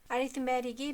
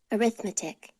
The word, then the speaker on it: arithmetic: arithmetic이 명사일 때는 T 발음이 들리게 발음하고 형용사일 때는 T 발음이 거의 들리지 않게 발음합니다. arithmetic, arithmetic, arithmetic, arithmetic, 노타의